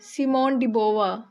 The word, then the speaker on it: Simone de Beauvoir: ये एक French author हैं, इसलिए इनके नाम की प्रोनाउंसिएशन भी ऐसी है, सिमोन डिबोवा।